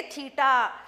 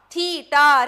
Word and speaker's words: تھیٹا: کو ہم کہیں گے تھیٹا. اردو میں کیسا پروناؤنس کریں گے, کیسا تلفظ کریں گے اردو میں ہم اس کو؟ تھیٹا. تھیٹا, ریپیٹ کیجئے میرے ساتھ, تھیٹا.